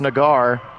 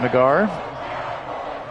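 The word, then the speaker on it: Naggar: There's a look at Nagar. Pronounced like cigar with an N.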